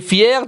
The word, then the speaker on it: fier: gens fiers yassine est fier d'avoir gagné la course il est très content de sa victoire attention pierre f i er se prononcent fier comme le féminin fier anti synonyme complet mais